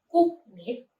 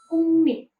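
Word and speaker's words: 국립: Maka konsonan kioknya dirubah lagi menjadi iel. Jadi kata ini dilafalkannya bukan kuknip, melainkan kungnip.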